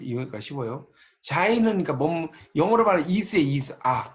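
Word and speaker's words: Sein: 자, 있는 현실을 이제 독일어로 자인이라고 그래요. 이걸 이제 발음을 자인이라고 합니다. 자인. 그럼 있어야 하는 현실은 이거는 독일어로 졸렌이라고. 이렇게 발음을 써놓으시면 좀 이해가 쉬워요. 자인은 그러니까 영어로 말하면 is에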